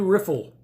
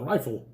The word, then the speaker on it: Riffle: you have the knife this is the cevivi riffle that's how i pronounce it that's what a lot of people pronounce it i have heard people call it the rifle but that's not a spell rifle i think